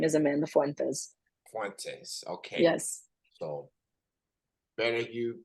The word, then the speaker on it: Fuentes: It's a my last name is pronounced Fuentes, so my full name is Amanda Fuentes. Fuentes.